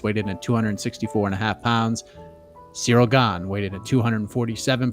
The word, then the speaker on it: Ciryl: Ciryl. See, he says I've been saying Sidal. No, buddy, you roll your R, man.